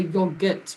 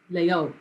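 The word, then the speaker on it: yaourt: is our yogurt you don't you don't say the your gut part it's just layout this is also very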